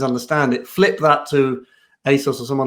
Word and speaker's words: ASOS: that's how you say it, by the way, ASOS, your Amazons and your John Lewis's, what are